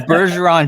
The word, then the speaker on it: Bergeron: hawk there you go it's bergeron jeep in new orleans there you go there you go that's what i thought version run yeah that's what i said see i said it right you did i i'm actually pretty impressed that's pretty good it's the french the french side you might have sold